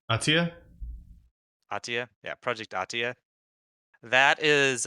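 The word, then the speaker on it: Athia: I just can't pronounce that. Uh, Atina, Ahtia? Ahtia, yeah, Project Ahtia.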